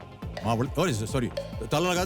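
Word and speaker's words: Mavalli: सर बहुत ही सर इसका इसका उच्चारण कैसे होता है मुझे बताइए माव्ली माव्ली बहुत ही फेमस जी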